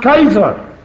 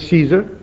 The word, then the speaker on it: Caesar: Caesar it should pronounced Kaiser the Germans pronounce it Kaiser it means Caesar then the syst moved